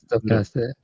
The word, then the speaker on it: stochastic: to explain that stochastic explain that stoastic stoastic And that's how you say it.